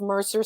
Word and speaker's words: Mersur: finally I love Soho I love Mercer Street in Soho and it's spelled differently but it sounds the same so it's kind of